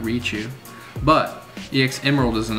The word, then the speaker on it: Raichu: Next is Raichu EX from EX Emerald with a 9. That's a nice looking card. Is that really how you say it? Raichu? I thought it was Raichu.